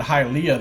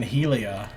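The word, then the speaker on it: Hylea: question right actually doing I notice he pronounced her God's name Helia I've been pronouncing it halia this whole time I guess I need to start pronouncing it Helia Helia the goddess of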